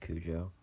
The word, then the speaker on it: Cujo: clues oh I'm just kidding I know it's pronounced Cujo um this story which was made by Stephen